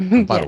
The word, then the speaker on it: Amparo: Amparo, yes.